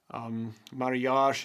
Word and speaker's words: mariage: They played marriage game, the card game, mariage in our language. And I think it even comes from the French mariage. That's the French pronunciation of marriage.